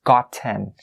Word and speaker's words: gotten: You don't say gotten. No, we don't. We'll stop that sound. Gotten. Gotten. And we don't make that T sound extremely clear as opposed to maybe other regions.